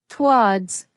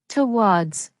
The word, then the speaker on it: towards: In natural British English, we usually pronounce towards with one syllable, towards one syllable. We don't usually say towards two syllables. Using the shorter version sounds more natural and smoother.